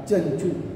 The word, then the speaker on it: चंचू: नहीं तो चमचू उच्चारण होगा, यह गलत होगा, चंचू।